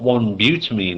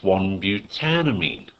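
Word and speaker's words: 1-butanamine: Alright, it's important not to miss out that syllable. Alright, all we're doing is lopping off the E and sticking amine on the end. It's not 1 butamine, it's 1 butanamine.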